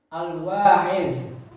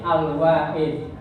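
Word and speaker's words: الواعظ: Al-Wa'id itu ditulisnya pakai D, tetapi pengucapannya zo yang benar. Al-Wa'id, asal katanya kalau kita belajar nahwu shorof itu dari kata wa'azo.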